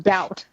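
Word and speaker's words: D=OUT: to like understand that, one, it's pronounced doubt, and two, realize how stupid I was for mentally like reading it as D equals sign out like every time, or D equals out.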